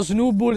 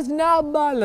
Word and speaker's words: Snubbull: Ragazzi, abbiamo uno Snubbull. Spiazzo, non si pronuncia così, si pronuncia Snubbull.